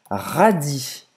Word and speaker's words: radis: Rabanete em francês, c'est un radis, Você não vai pronunciar esse S. Radis.